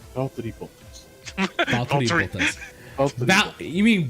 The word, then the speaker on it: Valtteri Bottas: It's Valtteri Bottas. Valtteri Bottas. You mean Valtteri Bodass?